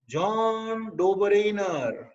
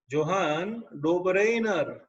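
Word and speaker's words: Johann Döbereiner: तो बच्चों पहली बार याद रखना 1800 एडी में पहली बार जॉन डोबरेनर, प्रोनाउंसिएशन भी प्रॉपर होना चाहिए, जोहान डोबरेनर साइंटिस्ट ने 1800 की साल में पहली बार सोचा था कि we should classify the element.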